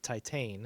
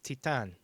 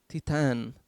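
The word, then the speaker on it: Titane: looks like it's pronounced titan that's what i thought yeah but no it's french and it's pronounced titan titan oh boy from last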